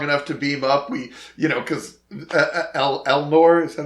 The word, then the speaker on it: Elnor: Because Elnor, is that how you say it?